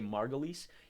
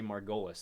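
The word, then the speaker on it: Margolyes: pronounce that last name I know in in Britain they usually say margoles in the United States they say Margolis and and the reason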